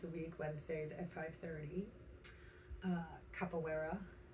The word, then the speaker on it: capoeira: Capoeira. Capoeira. There you go. It's like In Portuguese. Okay. Or whatever. Try to throw the accent on for the pronunciation. It's like French and Spanish combined.